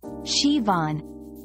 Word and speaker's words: Siobhan: name Shian is pronounced shivon this unique Irish name features a soft shush sound followed by a stress on the second syllable rhyming with lawn remembering this pronunciation can